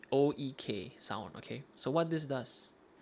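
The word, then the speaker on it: oeksound: Yeah, how do you pronounce that? OEK Sound.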